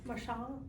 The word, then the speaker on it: Marchant: forester here, Ben, and his last name looks like Marchant, but it's Marchand.